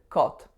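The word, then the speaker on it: kot: letters K o T the letter K is gonna make the sound the letter O is gonna make the sound o and the letter T is gonna make the sound so when you put those together you get the word cult which means cat and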